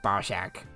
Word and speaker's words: Barack: Um, is the prison escape one with with with Barack. I have to say it like that otherwise it just sounds like I'm saying Bzac.